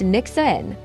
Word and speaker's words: Nyxerin: After a lot of back and forth, we settled on Nyxerin, pronounced Nixon.